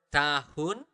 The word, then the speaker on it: tahun: Tahun lalu. Okay, tahun lalu. This is also a very interesting note for you guys. We usually do not really pronounce the letter H.